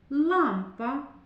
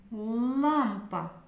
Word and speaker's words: лампа: Слово лампа. Літак. Дітки, чи однаково вимовляється в них звук л? Лампа, літак. У слові лампа звук л твердий.